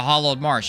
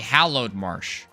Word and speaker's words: Hallowed Marsh: word a certain way like the hollowed Marsh it's actually hallowed Marsh but whenever we played for the first time we called the Hall of March so I always have